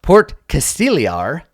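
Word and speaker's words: Port Castigliar: us pronunciation guides for things Porticus it's actually pronounced port Casteel er is it is a port in name only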